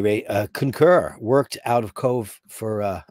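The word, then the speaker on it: Cobh: Concur worked out of Cove for, I like how you spelt it. You didn't spell it the Irish way. Cove. It's for the punters, right? Because Cove is spelled, you know, it's very Irishy.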